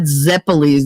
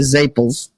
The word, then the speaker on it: zeppole: not RAR it's rot they're not zeppoles they're zaples and it's not a